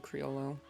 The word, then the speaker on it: Criollo: But if you ever talk about it around the third Charlie, he'll try to correct you saying the word Criollo and give you the Spanish Criollo pronunciation. or whatever.